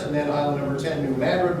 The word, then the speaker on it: New Madrid: You got Fort Pickering, Fort Randolph, Fort Pillow, there was a Fort Harris, and then island number 10, New Madrid, Missouri, pronounced Madrid by the way, Tiptonville, and then they'll eventually extend their fortification, up to Columbus.